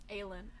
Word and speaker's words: Aelin: Is it pronounced Aline? Aelin.